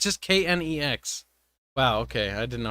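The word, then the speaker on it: K'Nex: And it's just Knex. Wow, okay. I didn't know how to spell it.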